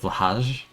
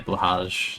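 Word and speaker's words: Blåhaj: How do you pronounce the J? Is it, like, silent? Is it, like, bloha? Like, how does the J work there? I have no ink. Why did I do that? You pronounce the J blahaj? So that's, like, I don't know if that's, like, the right way. It's soft shit, blahaj.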